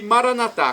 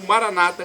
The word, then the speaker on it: Maranata: E Maranatá, como dizemos nós católicos, ou Maranata, como dizem nossos irmãos separados, os evangélicos ou protestantes. Não importa a pronúncia, do aramaico, dialeto de Jesus, para o português, significa vinde Senhor Jesus.